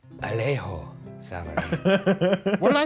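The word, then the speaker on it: Alejo Sabaraín: I think it's pronounced Alejo Sabarain. What did I say? You said Alejo Sabarain. Sorry, let me take another stab at that. Alejo Sabarain.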